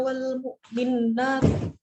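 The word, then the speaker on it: والمؤمنات: your Newborn lemu Iruna Wal mukminat pada nggak ada tasnya luka ngerti bacanya Yang betul apa Wal mukminat tanpa taskip jadi jangan double m Wal mukminat uh itu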